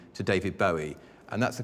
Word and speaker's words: Bowie: you that I've now changed Davy's name to David Bowie and that's the correct pronunciation he named it himself after the Bowie